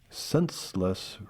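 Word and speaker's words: Centsless: Racers from Senseless Racing of Grand Island, and Senseless is spelled C-E-N-T-S-L-E-S-S.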